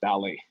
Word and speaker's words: Ballet: we chose the name balle balle pronounces the same in many languages it's like art from its female-friendly all these names are all geek all guys right we want to target more woman won't bring more women onto the space so not that it's a feminine name per se but we really wanted something that's easy for people to pronounce so it's ballet yeah and also not